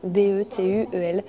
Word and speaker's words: Bétuel: Comme ça se prononce. Exactement, Betuel, voilà.